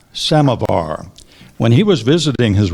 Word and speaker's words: samovar: that one is k a m a samovar samovar when he was visiting his Russian friends Ron